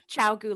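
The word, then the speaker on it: ChiaoGoo: Yeah, Chiaogu, like dog chow, Chiaogu.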